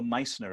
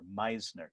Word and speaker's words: Meissner: There is in physics a phenomenon called the Meissner Effect, and I would encourage anyone who's interested to go look it up. It's spelled M-E-I-S-S-N-E-R, Meissner, M-E-I-S-S-N-E-R, the Meissner Effect.